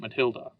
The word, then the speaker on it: Matilda: Well, it's spelled Matilda, but you pronounce it Matilda because it's French.